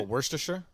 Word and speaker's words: Worcester: it's just that yeah how do you say oh Worster Worster s it's just a it's it's Worcester Worcester yeah well then what the